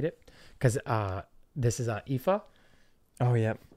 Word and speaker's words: Aoife: So moving forward, unless you've seen this name spelt out, it'd be difficult for most people to pronunciate it, because this is Aoife.